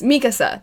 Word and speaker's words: Mikasa: It's Mikasa.